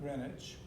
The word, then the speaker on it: Greenwich: to think of it you can think you know greenwich green which is how it's spelled but greenwich okay and because of the